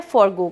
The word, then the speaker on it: forgo: Spelling होती है वो FOREGO भी करेक्ट है और FORGO भी करेक्ट है, और दोनों का प्रोनाउंसिएशन यही होता है, फॉरगो करना.